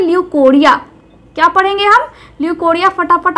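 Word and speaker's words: leucorrhoea: बिल्कुल सही होगी तो लुकोरिया को हम आज अच्छे से एक्सप्लेन करेंगे डिस्कस करेंगे हिंदी में हम इसको लिकोरिया भी बोलते हैं अब आज के लेक्चर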